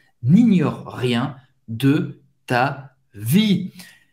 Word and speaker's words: n'ignore: Seigneur n'ignore, não é ignore, é ignore, GN. Mais uma vez, você vai fazer esse som n, ignore, n'ignore rien, ignora nada da sua vida. Le Seigneur n'ignore rien de ta vie.